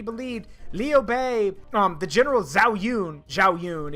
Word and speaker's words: Zhao Yun: No, if the legends and the stories are to be believed, Liu Bei, the general Zhao Yun, if you can't understand the pronunciation, but it's Zhao Yun.